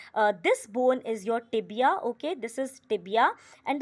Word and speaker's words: tibia: ticket cricket maybe um so tibia all right or it is rhyming with dibia all right and this